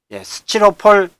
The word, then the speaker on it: 스티로폼: 뭐로 수정해야 되죠 답을 근데 왜이 발음이 스치로폴이라고 많이 바람 날까요 우리나라에는이 9개월만 현상 때문에 티역과 이해가 만나면 씨앗으로 바른 나죠 같이 낱낱이 서치 이렇게 하듯이 그러다 보니까 스티가 수치로 구경의 현상 때문에 그런 잘못된 발음이 나가고요 스티로 폴이 아니라 폼